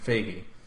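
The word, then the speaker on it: Feige: the first time FY no no no Kevin fagy which I thought was pretty interesting I never heard that pronounce that way but I don't know coming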